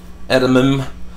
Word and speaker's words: edamame: some Frozen peas and edamame edamame that's how you say it I got me some